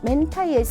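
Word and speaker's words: 明太: 일본식 이름이 멘타이 코가 명태의 일본식 발음 멘타이 나온 걸 보면 명란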